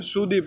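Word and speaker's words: sudip: মনে রাখবেন, সুডিপ, এখানে ডি যে শব্দটা, ডি শব্দটাকে বাংলাতে দ ব্যবহার করতে হয়, কারণ মালয়েশিয়ানরা এই ডি, ডি শব্দটা ডি ডি উচ্চারণ করে এবং টি শব্দটাকে ত উচ্চারণ করে।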